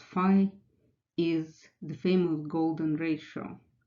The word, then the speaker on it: phi: Well, that number, pronounced phi, is the famous golden ratio, which is defined